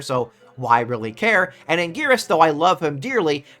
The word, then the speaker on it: Anguirus: The new Godzilla costume and a new monster, that being Anguirus, which will be how I say it because that's the right way to say it.